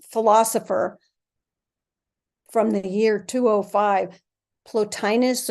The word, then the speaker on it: Plotinus: from the year 205 plotus or platinus I'm not sure how you might pronounce it but I pronounce it plotinus listen to this as